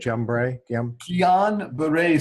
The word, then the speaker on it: Guillain-Barré: And then this condition, I forget how you say it, Guillain-Barré syndrome.